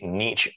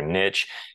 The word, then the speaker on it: niche: businesses next is a niche market now there's a couple different pronunciations of this you might hear Niche you might hear Niche either one works um but this is